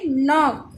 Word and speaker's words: knock: KNOCK, knock. यहाँ K silent है तो NOCK, knock.